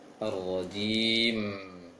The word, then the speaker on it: الرجيم: Seperti tadi bacanya A'udzu billahi minasyaitonir rajim. Ar-rajim.